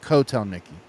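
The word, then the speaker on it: Kotelnicki: gonna say that ever it's like Hotel Nikki but cotel Nikki oh okay thanks um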